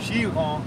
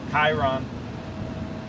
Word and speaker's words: Chiron: Bugatti Chiron is technically how you say it. It's French. Okay. Other people say it Chiron.